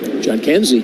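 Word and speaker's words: Jhonkensy: in here Scott it's spelled j h o n k NS y John Kenzie yes and it's Noel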